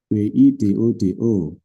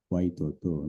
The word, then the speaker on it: Widodo: W I D O D O. Bacanya kan widodo kita ya. Kalau orangorang Barat gimana? Waidodo gak ono Indonesia gak ada.